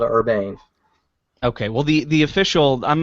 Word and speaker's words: Urbane: Well, then I think you deserve a nicer watch, and that watch is the LG Watch Ur Urba Urban Urbane is how it's Urbane. pronounced.